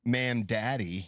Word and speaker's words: Mamdani: It's more like Mam Daddy.